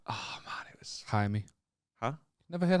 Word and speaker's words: Jaime: Like, oh man, it was Jaime. Huh? Never heard Jaime before? No. It's literally how Jamie is said in Spanish. Mad, innit? They pronounce the J's with a so it's Jaime.